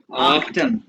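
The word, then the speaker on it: achten: जैसे ये देखो जर्मन बताने का तरीका है, ये आख्टन, आख्टन, आफ्टन।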